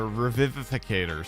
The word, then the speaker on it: Revivificator: Or Revivificator. Sorry, there's even a whole nother syllable in there that I was missing there. Now that I look at it.